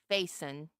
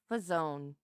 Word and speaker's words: Faison: Um, but I had a teacher in college that he wouldn't say Faison. He said Fazone. He would only call me the French pronunciation of my name.